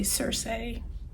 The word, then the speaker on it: Circe: This is the one I said that was thicker than I knew, but Cersei by Madeline Miller, and I believe that's pronounced correctly, Cersei.